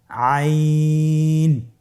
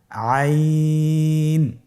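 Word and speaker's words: عين: আইন হরফটি উচ্চারণের সময় অবশ্যই 3 আলিফ টেনে পড়তে হবে এবং আইন হরফটি বারিক হরফ, পাতলা করে পড়তে হবে। আপনারা আমার সাথে বলুন আইন। আবার বলুন আইন।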